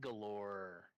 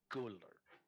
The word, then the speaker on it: guller: You thought Galore sounded familiar. It's wrong though. It's sort of it's a mispronunciation of the giant word guller, which means vault.